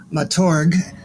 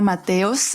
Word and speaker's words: Mateos: name is Dr Mator am I pronouncing that right well yeah my my real name is Matos uh but I go